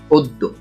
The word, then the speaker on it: অদ্য: এর সঠিক উচ্চারণ হচ্ছে অদ্য।